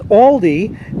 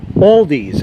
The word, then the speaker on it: Aldi: As far as Aldi, that's another one.